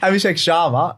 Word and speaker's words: Abhishek Sharma: I don't know why I keep saying his name wrong. Abhishek Sharma, of course.